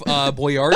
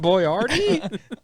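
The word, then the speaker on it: Boyardee: Chef Boyardi. I think it's pronounced Boyardi.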